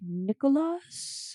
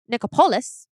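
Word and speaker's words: Nichopoulos: George Nicholas. Is that how you say his name, sir? Nicopolis.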